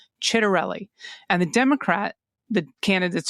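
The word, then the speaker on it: Ciattarelli: For anyone not inundated with a million campaign ads on a daily basis, the Republican candidates's last name is pronounced Chit Chitterelli. Chitterelli and the Democrat the candidates's first name is pronounced Mikey with a long I sound.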